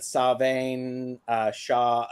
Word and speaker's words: Samhain: Because people here in the States, Samhain, it's like, no, it's not Samhain. Yeah. Samhain. Yeah. I think it's the roots. Let me look at. He's got his book out here. I've got my book out. This is, all the wisdom. Samhain, Savain, Savain.